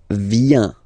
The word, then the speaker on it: viens: So the first form is je viens, je viens, okay? Remember this I, viens, and then this nasal, final S not pronounced, je viens, Tu viens.